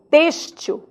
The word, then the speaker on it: têxtil: do X na palavra Têxtil Olha que interessante o x ele continua enquanto forma enquanto desenho enquanto letra mas o som agora não é x não é dizer mas sim s Têxtil tranquilamente nós tiraremos